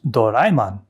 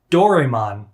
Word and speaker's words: Doraemon: from the movie his name is doraemon don't tell me it's pronounced differently i don't care if it's pronounced differently in a different language in japanese it's pronounced doraemon so i'm calling him doraemon